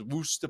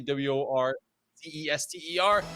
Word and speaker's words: Worcester: Gonna find out if that continues on as Worcester Polytechnic Institute. It's the right way to say it, by the way. If you see WOR Cester, it's Worcester. Locals, they said that was right.